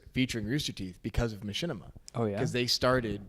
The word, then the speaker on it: Machinima: there's an insert featuring Rooster Teeth because of Machinima.